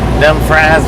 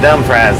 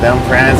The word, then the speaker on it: Dumfries: of 95 we're in them fries virginia i know that's not the right pronunciation but i do know that we are in dumfries though dumb prize virginia half the nation's population